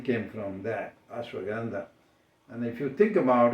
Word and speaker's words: Ashwagandha: How do you pronounce it? It's Ashwagandha.